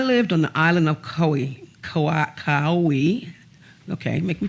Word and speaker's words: Kauai: When I lived on the island of Kauai, okay, make me pronounce that, Kauai, help me family.